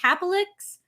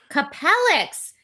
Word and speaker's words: Capellix: the iq h170i elite capolix uh liquid cooler the couple capellax capellix thank you i like need the